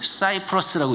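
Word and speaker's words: Cyprus: 이 구브로라고 하는 섬, 우리나라 말로는 여러분의 지도를 찾아보면 키프로스라고 되어 있고요, 영어로는 사이프러스라고 읽습니다.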